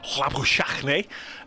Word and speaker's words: Labuschagne: Zimbabwe is where my dentist is from, and he says Dave will be listening, and the correct pronunciation is Labuschagne, which is what Ant Boter told me this